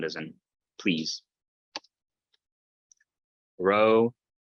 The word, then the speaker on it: Rho: Rho, kind of roll your R's, so ra, but it makes that kind of ra sound as you have an R in Spanish, not like the English R, but rolled a little bit.